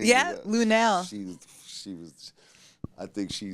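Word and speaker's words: Lunell: Yeah, Lunel.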